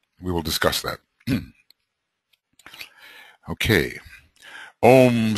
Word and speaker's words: AUM: Okay, we're going to pronounce the AUM as Om, which I think is the correct thing to do, even though it has